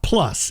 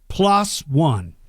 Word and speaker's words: PLOS ONE: Not plus, it's spelled PLOS and then ONE, 2 words. PLOS One, PLOS One. They pronounce it different.